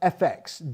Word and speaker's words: EFEX: special online folk platform EFEX Digital, pronounced FX Digital, which includes great online content and ticket discounts for folk music concerts and events when they return, which they will.